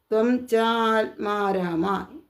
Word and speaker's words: ത്വം ചാത്മാരാമ: ത്വം ച ആത്മാരാമ എന്ന് വായിക്കരുത്. ത്വം ച ദീർഘം അവിടെ പറയുമ്പോൾ അവിടെ ആ ഉച്ചരിക്കാനാണ്. ത്വം ചാത്മാരാമ അവിടെ ആ ഉച്ചാരണം വരണം.